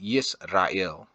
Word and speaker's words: Yisrael: In KJV, it's just it's a capital Israel, but me, I try to pronounce it with the Y, Yisrael.